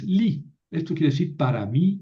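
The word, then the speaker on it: לי: No es le i o le y es li.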